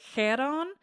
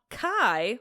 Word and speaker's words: Charon: So in like a more accurate um Greek pronunciation it would be like Kon because it's got that K which is not Kai like the uh American fraternities would have you believe Kai.